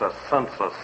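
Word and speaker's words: assensus: the Latin word correctly it's a census and not a cent you yes it's a census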